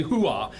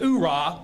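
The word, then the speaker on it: hooah: and uplifting and frankly hoo-ah, and that is with using the term hoo-ah. So if you've never heard the term hoo-ah, or you're a Marine and you mispronounce it oorah, we'll excuse that, but I want everybody on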